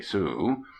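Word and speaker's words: Sault Ste. Marie: by by the little town of sus Marie pronounced abruptly Sue we happened on it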